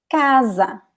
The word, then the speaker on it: casa: For example, casa. So the stress is in ca. Casa. Casa. There is no accent, but you know the stress is in the first syllable because it's the second to last.